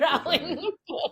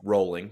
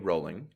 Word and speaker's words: Rowling: to how JK Rowling. Yeah, it's um it's pronounced rolling. JK rolling. Just throwing that out there. Rolling like a boat.